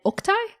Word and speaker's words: Oktai: Is it pronounced Asaya and Ilias and Oktai? Or are there different ways to pronounce them? That's all correct.